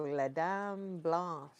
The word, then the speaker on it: Les Dames Blanches: Also known as the white ladies are Oh, Les Dames Blanches.